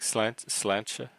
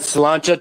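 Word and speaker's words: Sláinte: Slancha. Yeah, Slancha. Gaelic. Slancha is Gaelic. Yeah, Gaelic is Irish too. Yeah. That's basically Irish. Somebody says slancha to you, the response is slancha vat.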